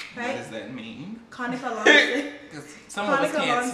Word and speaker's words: Lancia: Conica Lancia. Some Conica of us can't spell. Lancia, not Lancia.